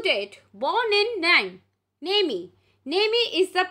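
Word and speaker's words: Nîmes: mr alphonse due date born in nang naemi nemi is the pronunciation they have given the pronunciation as well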